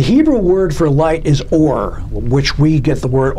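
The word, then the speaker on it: אור: The Hebrew word for light is or, which we get the word O-R-E, which means gold or whatever, or something rare.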